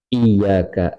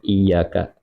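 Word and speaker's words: إِيَّاكَ: Misal iyyaka, iyyaka ini kan iyanya bertasdid dan ia baca tidak dengan bertasdid atau diringankan, contohnya iyyaka, maka batal salatnya.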